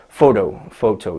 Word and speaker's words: photo: So if we look at this one, photo, 2 syllables, first one is stressed.